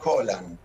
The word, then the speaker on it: Gollán: Bueno, es de origen escocés y sería Holland. Ah, Pero imagínate que de Holland a Goyan, que ya incluso algunos le ponen el acento, ya está.